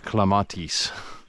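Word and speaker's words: clematis: popular, but you know, if you're going to go with Latin because that's what it is, it would actually be more like clamatis.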